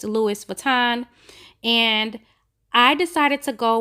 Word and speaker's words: Louis Vuitton: vuitton book and yes i know i said louie earlier that's just how i say it but it's pronounced louis vuitton and i decided to go with that orange